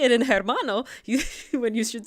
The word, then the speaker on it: hermano: You don't have to make the H noise. The J noise makes the H, right?